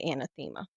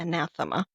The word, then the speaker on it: anathema: now, well, I say anathema. Some people say Hmm. anathema.